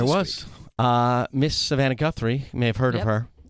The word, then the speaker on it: Guthrie: Miss Savannah Guthrie. You may have heard of Yep. her. Rhymes with schmuthrie.